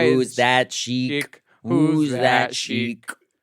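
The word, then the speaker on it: Cheiq: Chick.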